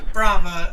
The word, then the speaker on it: Brava: It is spelled like brave, but I am not brave. I am Brava, like you would yell at a standing ovation.